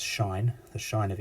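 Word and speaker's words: sinh: s i and H thing mean it's actually pronounced Shine the shine of X well that is the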